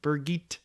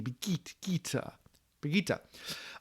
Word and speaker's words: Birgitte: How you pronounce it? Birgitte. Hard G. Birgitte.